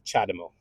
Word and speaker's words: CHAdeMO: but honestly it bugs me when people just pronounce it like Chad demo with with a I don't know um so it's chademo right that is a chademo charger and um